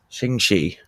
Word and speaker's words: Ching Shih: Ching Shih.